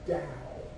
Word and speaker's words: Tao: But the main divine being is the Tao, okay? And it's pronounced D-O-W, okay?